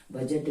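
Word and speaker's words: budget: बजट, ब्रिज, मिजट सभी में rule वही हो रहा है जैसे इसमें रूल काम कर रहा था।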